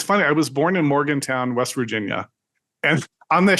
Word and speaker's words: Morgantown: on the screen because I'll call it Morgan's town you know not Morgan Town yeah um and uh